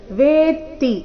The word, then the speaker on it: ವೇತ್ತಿ: ರೀತಿ ಮುಂದಿನ ಶಬ್ದ ಇದೆ ವೇತಿ ಇಲ್ಲಿ ವೇತಿ ಅಂತ ಇಲ್ಲ ವೇತಿ ವೇ ದೀರ್ಘ ನಂತರ ತ ಕ್ಕೆ ತದ ಒತ್ತು ಕಶ್ಚಿನ್ಮಾವೇ ತತ್ವತಃ ನೋಡೋಣ ಪೂರ್ತಿ ಶ್ಲೋಕ